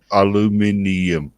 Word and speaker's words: aluminium: Aluminium, just like it's spelt.